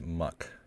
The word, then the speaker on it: MUCC: can you hear me mucc is pronounced muck just fyi okay muck